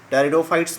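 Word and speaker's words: Pteridophytes: ट्रैक्योफाइट्स divide हुआ ट्रेडोफाइट्स में, टेरिडोफाइट्स में, पी साइलेंट रहता है टेरिडोफाइट्स में और स्पर्मेटोफाइट्स में।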